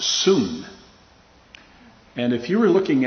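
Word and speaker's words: σύν: is which is uh spelled in the english s-u-n but it is pronounced soon and if you were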